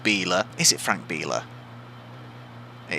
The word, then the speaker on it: Biela: So it's Bintcliffe on pole ahead of Alain Menu, Plato down in 4th behind Biela, although I do remember now that it's pronounced Biela.